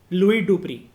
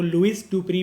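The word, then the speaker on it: Louis Dupree: 1966 की बात है, एक पर्सन थे जिनका नाम था लुई डुप्री, ठीक है, आप इनको लुइस डुप्री भी कह सकते हो लेकिन proper pronunciation is लुई डुप्री।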